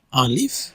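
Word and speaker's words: ألف: আবার যদি নিচে প্র্যাকটিস করি, উপর থেকে নিচে জাস্ট এইভাবে আলিফ, সো আলিফ উচ্চারণটা এরকম আলিফ।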